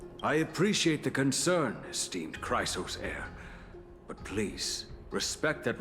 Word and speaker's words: Chrysos: Chrysos heir. Oh, these two with you are... Chrysos in Greek is pronounced chrysos, and it's the golden.